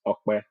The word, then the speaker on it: Ope: I mean, everybody knows me as Opie, and I often, refer to myself as Opie as well. But the proper way to actually pronounce the short form of my name is Okwe.